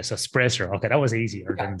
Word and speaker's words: Sprajcer: My second name is Sprajcer. So just a silent J. Oh, a silent J. So Sprajcer.